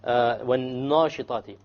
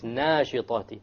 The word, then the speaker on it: وَالنَّاشِطَاتِ: They pronounce وَالنَّاشِطَاتِ maybe وَالنَّاشِطَاتِ, which is a mistake. It's nashitati. Okay?